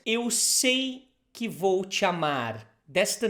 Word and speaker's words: amar: Not amar, amar.